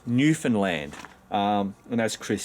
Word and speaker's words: Newfoundland: It's Newfoundland. And as Chris says, let me teach you how to pronounce Newfoundland, like a true Newfie. Everyone always puts the emphasis on newfound, which always bugs us.